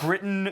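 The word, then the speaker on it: Brytton: showing off their collection and everything uh it's Britain spelled b r y t t o n but pronounced like the country Brighton and Alysa who's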